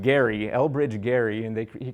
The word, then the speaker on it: Gerry: back in the 1800s it's a name is pronounced Gary Elbridge Gary and they he created some kind